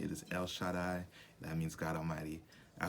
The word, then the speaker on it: El Shaddai: how to say his name right it is el shaddai that means god almighty i hope you enjoyed